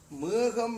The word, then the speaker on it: மேகம்: இதிலே மேகம் என்பது ஏச் போல உச்சரிக்கப்படுகின்றது. அது இரண்டு உயிர்களுக்கு இடையில் வந்திருக்கிறது.